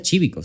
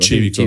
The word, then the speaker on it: Cívico: Que se pronuncia Chívico, si no me equivoco. Chívico, sí, ves sí.